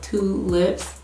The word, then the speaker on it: Twolips: So it's spelled T-W-O-L-I-P-S, like tulips, the flower, but Twolips.